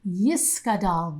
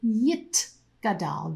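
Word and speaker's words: יתגדל: mourner's kaddish yiskadal viscadashimeraba now that pronunciation yiskadal the yiskadash is an old-fashioned pronunciation of hebrew a modern-day hebrew speaker would say yit gadal the yit kadash you can hear that there's a sound instead of a sound the composer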